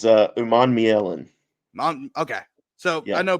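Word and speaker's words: Umanmielen: So is it Human Milan? It's for Princely. I don't know how to pronounce. I know you know it better than I do. So It's Uman Mielen.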